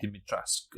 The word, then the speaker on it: Dimitrescu: Apparently, the E is silent first of all, so it's Lady Dimitrescu or something like that.